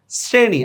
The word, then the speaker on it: শ্রেণী: বানানে যে সয় দিয়ে লেখ দেখো খেয়াল করে শ্রেণী আমি লিখছি তালবস্য উচ্চারণ করতেছি দেখো দন্তস্যর মত শ্রোতা লিখছি তালবস